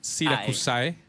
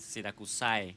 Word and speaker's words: Syracusæ: Yeah, if you say it in Spanish, it's just Siracusae. With Siracusae. Siracusae.